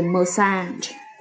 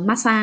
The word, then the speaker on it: massage: Cái từ massage này thì nó là trọng âm âm thứ 2. Massage.